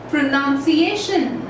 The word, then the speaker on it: pronunciation: So this is not pronunciation, it's pronunciation. Okay, just focus on this sound. It's pronunciation. So the sound kind of goes in this way. So the sound of this particular word goes in this way, pronunciation. Pronunciation, and not as pronunciation. The sound over here is a sound.